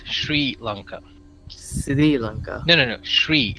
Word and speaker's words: Sri: mean it's it's not what is the correct pronunciation I've seen it's Sri Lanka no no no Sri Sri as in SH tree like she but an